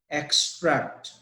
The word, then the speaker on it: extract: that the word is extract extract the information from the passage and share it with me he X the stress is on e x the last word which